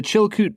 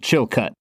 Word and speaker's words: Chilkoot: There's 2 O's, so obviously you should pronounce it, improperly. Sure. And Chilcut.